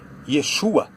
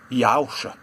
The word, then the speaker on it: Yeshua: Há sim uma maneira de pronunciar corretamente, mas o consenso comum da pronúncia do nome Jesus é Yeshua, e não como eles tentam pronunciar aí, Yahusha.